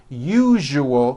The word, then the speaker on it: usual: are not being understood let me show you how to pronounce the word usual correctly break it up into three syllables you jus oh that second syllable jus the one with the underline needs to be voiced put your hand on